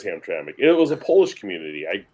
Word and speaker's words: Hamtramck: Yes, and by the way, it's Hamtramck. That's how it's pronounced. Have I pronounced it wrong in the past? I forget the way you were saying it, but it wasn't correct. It is Hamtramck.